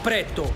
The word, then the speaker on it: Prètto: No, perché a me mi è rimasto impresso, perché c'ha l'accento sulla E. Sì, c'è l'accento. Pretto. No, no, Pretto. No, Pretto. Pretto. Ah, con la è aperta. Pretto, Pretto, ragazzi, se venite qua è Pretto.